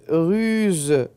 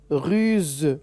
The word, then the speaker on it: ruse: dire un trou une ruse oui on n'entend pas le son ce on a Z ruse le son ze sur non on entend